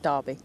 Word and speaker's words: Derby: how it's thing but Derby Derby don't know why it's spelled D e r b y when it's said g a r b y anyway let's